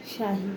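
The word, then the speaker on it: شاي: বলবে জিবি শাহী ওকে তো চা আরবি উচ্চারণ হচ্ছে শাহী ঠিক আছে তো আমরা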